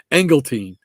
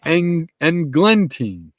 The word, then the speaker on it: Englentine: I always say that wrong. I always want to say Engeltine, and it's Englentine.